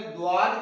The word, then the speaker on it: ضاد: کے بعد ہم جو ضاد کے حوالے سے بات سیکھیں گے، عربی زبان میں اس کا تلفظ ضاد ہے، عربی میں ضاد کہتے ہیں، ہم ویسے اردو میں دعاد کہہ لیتے ہیں، دعاد سواد دعاد،